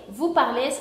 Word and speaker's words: parlez: Después tenemos la terminación EZ. EZ se va a pronunciar de la misma forma como E. Ya no se pronunciaría es, se pronunciaría E.